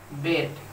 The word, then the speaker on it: beat: उसने पीटा, ही बेट। यहाँ पर एक चीज मैं आपको बताना चाहूंगा, देखो बीट के दूसरे फॉर्म का भी स्पेलिंग सेम रहता है, सिर्फ प्रोनाउंसिएशन बदल जाता है।